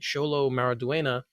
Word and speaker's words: Xolo Maridueña: As we know, Blue Beetle has wrapped filming, and Xolo Maridueña, who's playing Jaime Reyes, was great job pronouncing his name, by the way.